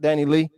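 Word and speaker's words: Dani Leigh: And that's how you say it, Danny Lee.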